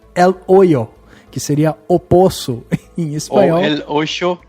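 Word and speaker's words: El Hoyo: depois a pronúncia e percebi que o h nesse caso ele não existe então é el o que seria oosso em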